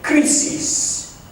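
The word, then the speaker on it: κρίσις: This word in ancient Greek would have been pronounced something like krisis.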